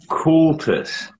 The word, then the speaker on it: Kultus: i pronounce your name it is pronounced cultus you're lucky normally i make people try at least once it's uh it's german and it means culture culture okay so it's